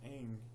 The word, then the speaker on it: Aang: that good and two they pronounced the freaking main character of the movie his name wrong the entire series I believe his name is pronounced Aang and this TV series